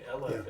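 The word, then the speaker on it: אֶלֶף: that's totally true but LF which starts with Olf yeah same letter just said differently LF is a thousand that's how you say it and it makes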